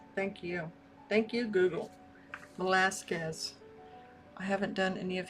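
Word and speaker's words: Velázquez: I'll have to Google how to pronounce it correctly. Velasquez. Thank you. Thank you, Google. Velasquez.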